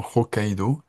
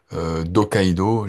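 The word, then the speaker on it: Hokkaido: quand j'enseignais en fait je disais effectivement rokaido en en aspirant le H et je disais donc de Rokaido. Et alors si on est puriste français on dit non on prononce pas le H et on fait des apostrophes.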